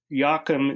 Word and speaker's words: Joachim: Mama Anderson and Joachim, which is spelled Jockum, Nordstrom, like the store.